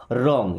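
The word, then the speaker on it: wrong: रॉन्ग। यहां पे W silent. Okay?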